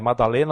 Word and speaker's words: Magdalena: elas havia Maria chamada Madalena Magdalena né porque Magdalena é maddalena nós pronunciamos porque é ela era